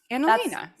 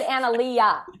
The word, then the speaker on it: Analena: Yeah, Analena. That's what it says. Yeah, that's what I said. You said Analea. You didn't put the N.